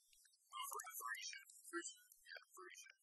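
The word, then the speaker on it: Freesia: Now, I think I'm pronouncing the genus wrong. It's Frisia.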